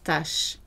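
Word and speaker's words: tache: La tâche. There's another word that's pronounced exactly the same way, tâche, without the circumflex, a little pointed accent on the top.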